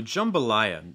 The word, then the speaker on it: jambalaya: um so jambalaya jambalaya notice the schwa sound so we get the jumbo jumbo okay notice again when you're saying that jumble jambalaya you can start off with like a dark l sound with the back of your tongue raised in the front of your tongue down it's like jumble jumble um but you could also